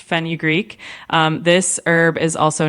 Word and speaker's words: fenugreek: I don't I'm not sure how to pronounce like fenugreek. Yeah, you got it pretty close. It's pronounced fenugreek.